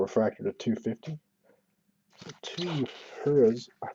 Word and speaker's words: Hiura: So two Hiuras, Hiura, I think is how you pronounce it. I've heard it a couple different ways. I heard somebody say Huria or Hooray. I'm going to say Hiura until I hear for sure.